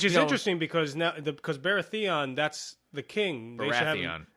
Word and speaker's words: Baratheon: interesting because now because baratheon that's the king baratheon what baratheon nah well it's not you're emphasizing the wrong syllables varathia the accent is on